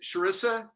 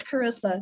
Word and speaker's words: Carissa: And you know what, if I can add to that, is it Charissa? Did I say it correctly? Carissa? Yeah, it's Carissa.